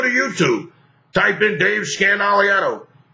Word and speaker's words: Scandaliato: i a t o I say my last name is Dave scan which is only four syllables but it's really five it's Dave Scandal that way when I